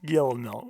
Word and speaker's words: Guillermo: There's L's in there somewhere. No, they're not. They're pronounced like a Y. Guillermo.